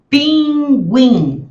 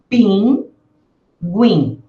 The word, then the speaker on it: pinguim: Pinguim. Veja só aí as duas sílabas são nasais. Pinguim.